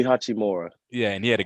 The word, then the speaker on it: Hachimura: I can't pronounce his name. Rui Hashimura. So Rui Hachimura.